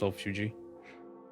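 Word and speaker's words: solifugae: Actually, it's pronounced sulfugi.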